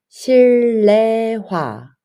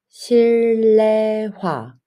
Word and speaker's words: 실내화: 2번 실내화 but you should pronounce 실내화 실내화 indoor shoes or sleepers 3번 발냄새음 발램냄새 발램세